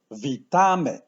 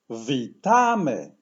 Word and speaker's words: Witamy: in this word and the word stress falls as almost always on the second-to-last the pronunciation will be V Tommy let's start with the